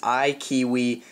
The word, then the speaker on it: iKeyWi: recently came out uh the name of it is I kiwi uh you should see the way it is spelled in the title above um but this tweak